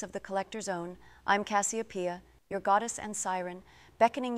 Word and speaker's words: Cassiopeia: That's beautiful, but you mispronounced your name still. Cassiopeia.